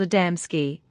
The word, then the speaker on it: Adamski: known to us but you mispronounce them the first is called adamsky the second gaves and the third mialik these are not names